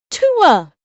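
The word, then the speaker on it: Tuah: no it's pronounced F Tua as in the sound you make when you're Hawking up a lugie and spitting it I know it's just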